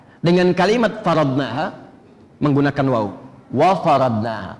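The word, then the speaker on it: وَفَرَضْنَاهَا: Wa faradnaha, bukan fa faradnaha.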